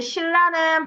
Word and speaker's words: 신라: 신라는 발음 어떻게 나? 신라로 나죠. 니은과 리을이 만나서 리을, 리을로. 불나방, 마찬가지. 라방으로 나고요. 자, 그래서 리을과 니은이 만나서 리을, 리을로 바뀐 케이스죠.